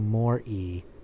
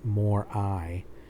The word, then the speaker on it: mori: religion teacher's latin pronunciations memento mori not more i it was strange that